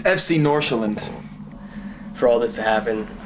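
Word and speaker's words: FC Nordsjælland: the team he plays for why don't you pronounce it let's see if they it's it's FC norand for all this to happen so quickly I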